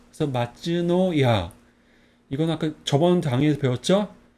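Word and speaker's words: 松のや: 뭐라고 했죠 소나무송 이거는 노 이거는 야 그래서 마츠노야 이거 아까 저번 당에서 배웠죠 소나무송 이거는 집모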